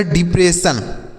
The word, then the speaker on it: depression: तो DE को पढ़ेंगे D। क्या पढ़ेंगे? D पढ़ेंगे। PRE को पढ़ेंगे प्रे। क्या पढ़ेंगे दोस्तों? प्रे पढ़ेंगे। और SSION को सन पढ़ा जाएगा। SSION को सन। तो यह लिखा गया डिप्रेशन।